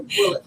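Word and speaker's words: Bulleit: Bouliette. Yeah, I'm not. Boulier. We're gonna be bougie with it. That's how it's spelled. But this is a bullet tonight.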